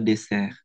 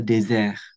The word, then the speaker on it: désert: Dans le dessert, dans le désert.